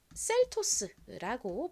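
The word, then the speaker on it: Seltos: S는 시옷 소리, 스 소리가 나서 연결하면 셀토스가 됩니다. 셀토스보다는 보통 좀 세게 셀토스라고 발음하죠.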